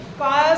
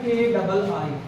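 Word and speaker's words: χ: Electronegativity को काय से रिप्रेजेंट करते हैं, स्मॉल x जैसे लिखते हैं, प्रोनाउंसिएशन होता है KII, काय।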